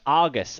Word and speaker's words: Argus: else do we have Argus I like this card because it rhymes with cargus and it's a cute